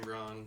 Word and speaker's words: Bronn: Braun.